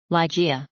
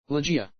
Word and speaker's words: Ligeia: Ligeia. Ligeia. Ligeia. Donc j'ai essayé de me conformer à cette prononciation-là, Ligeia. Donc Lai, ça pose pas de problème, c'est bien Lai.